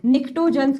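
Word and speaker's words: pnictogens: नाइट्रोजन family को हम निक्टोसेंस के नाम से भी बुलेट हैं नाइट्रोजन क्या होता है पीस साइलेंट है बच्चों निकोलिसेंस वो होता है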